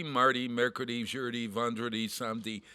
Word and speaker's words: Mardi: so great it's actually it's actually martay isn't it no marty m-a-r-d-i mark they pronounce that as a t marty learned martin lundy